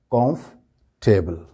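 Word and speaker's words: comfortable: इस तरह से है कि इसमें जो दो लेटर्स है ओ और आर इन पर बिल्कुल स्ट्रेस नहीं देना जब इसको बोलेंगे लिखने में तो सारी स्पेलिंग्स बिल्कुल सही है जो जिस तरह से लिखी हुई है वो इसी तरह से लिखी जाएंगी लेकिन बोलते वक्त ये लब्ज जो हो जाएगा कंफ टेबल कंफर्टेबल कंफर्टेबल नहीं होगा ठीक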